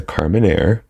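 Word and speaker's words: Carménère: Because before I think we said like Carmenere or something like that, or Carmenere. But it's a Carmenere.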